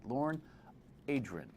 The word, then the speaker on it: Lorne Adrian: There's 16 ways to say his name, but only one correct way. Lorne Adrian.